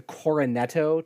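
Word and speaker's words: Cornetto: for is i can never say it the coronetto trilogy am i saying it right yeah that's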